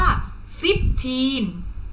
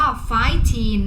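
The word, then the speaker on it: fifteen: จะ ออก เสียง ว่า ฟิต ทีน fifth ทีน นะ คะ เรา จะ ไม่ ออก เสียง ว่า ไฟ้ ทีน นะ คะ เรา จะ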